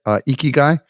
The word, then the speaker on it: ikigai: Ikigai?